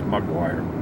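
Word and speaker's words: Maguire: It's not a Mick, it's McGuire.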